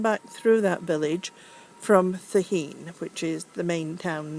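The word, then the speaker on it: Cehegín: There's Calaspara de Cruz, or de la Cruz, sorry, Thaheen, which is spelled C-E-H-E-G-I-N, so it's totally confusing, and Calaspara.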